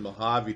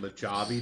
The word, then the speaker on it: Mojave: And he keeps calling it, instead of Mojave Desert, he called it Mojave Desert. Because Robot Paul keeps catching it. He's like, dude, he pronounced a hard J in that word, in Mojave.